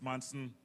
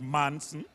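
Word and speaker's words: Maison: When we say Manson, not Manson, Manson. Yeah. Manson. Like tight Mike.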